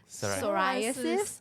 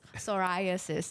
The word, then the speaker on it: psoriasis: yeah it's okay now I know how to pronounce psoriasis psoriasis okay yeah my uncle had that and then